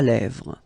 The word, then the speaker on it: lèvres: Final S not pronounced. Lèvres, okay?